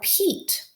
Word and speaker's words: Pete: Instead of this being pet, now that we have the silent E syllable type, so we have the E at the end that's silent, it helps the first vowel say its long vowel sound. And that for E is the E sound. So instead of being pet, it's now Pete.